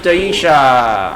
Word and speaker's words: Daisha: Someone has an imagination, and we have Daisha. Daisha. Is here. Daisha. Deja like Deja Vu, yeah.